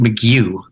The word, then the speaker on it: McGough: Well, the name's actually pronounced McGough.